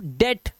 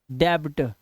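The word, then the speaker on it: debt: keep on making mistakes अब देखो यहां पर टी से पहले बी आ गया यहां पर देख रहे हो टी से पहले बी आया हुआ है अब टी से पहले बी आया तो साइलेंट रहेगा भाई य टी से पहले बी साइलेंट अब पढ़ते क्या है देखो टी से पहले बी है इसे पढ़ते सिर्फ डेट ठीक है बच्चे क्या गलती करते हैं बच्चे इसे पढ़ते हैं डेब्ट आधा बा लगा देते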